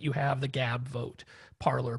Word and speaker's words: Parler: So that was a big difference, is that you have the Gab, Vote, Parler, Parlay. We're still arguing over whether people on an alt-right site would use the French pronunciation.